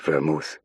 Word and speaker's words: Vermouth: Donovan pronounced the name like the drink. Vermouth.